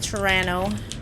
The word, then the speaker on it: Toronto: You don't pronounce the second T. It's like Toronto.